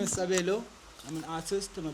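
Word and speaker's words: Sabelo: My name is Sabo. I'm an artist. I'm a painter. Graphic designer. S A B E L O. That's how you pronounce it.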